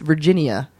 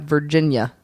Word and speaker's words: Virginia: A lot of people say Virginia Beach, but it's Virginia. There's Virginia. There's 4 syllables in there, not Virginia.